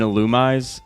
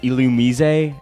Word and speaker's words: Illumise: Okay, I just searched this up, but it's pronounced Illumise. Yeah, that's how the Pokemon dub pronounces it.